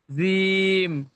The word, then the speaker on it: جيم: জিম, জিম, এটা চেপে উচ্চারণ হবে, জিম। জিম, আপনি মানে জিভের আগা থেকে বলছেন, জিম এমন ভাবে বলছেন, ওটা জিভের পিছখান থেকে হবে, জিম।